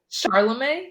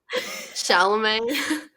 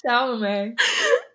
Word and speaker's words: Chalamet: Charlemagne? Isn't that how you say his name? Chalamet. It's Chalamet. There's no R.